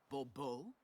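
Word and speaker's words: Bourbeau: The emphasis falls on the last syllable. Bbo.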